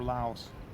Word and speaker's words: Laos: for example when they go to Lau or Laos I say Lau how they say it they just take a